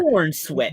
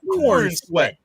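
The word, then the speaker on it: Corenswet: David Cornsworth, the new Corn Sweat or whatever. Corn Sweat. You gotta say it like that. Corn Sweat.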